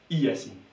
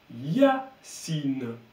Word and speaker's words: Yacine: En fait, quand le Y est devant une voyelle, il va faire Y.